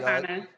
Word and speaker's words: Myavana: First of all, am I pronouncing it correct? Yes, that's correct. All right. Myavana.